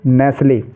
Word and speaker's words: knee: जैसे KNEE, इसको हम नी पढ़ेंगे, किनी नहीं, नी। अगर आप इसको किनी पढ़ेंगे तो गलत हो जाएगा उच्चारण इसका, इसको नी पढ़ेंगे।